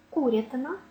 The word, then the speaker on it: курятина: перебіг перепис перетис перепуска такі сумнівні іменники як курятина олень лате мають наголос завжди на першому складі тільки олень буде їсти